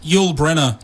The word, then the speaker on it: Yoolbrenner: How do you pronounce that exactly? Yoolbrenner. Yoolbrenner. Yeah. Yeah, that's what I try to say, but I often say Bringer because I'm an idiot.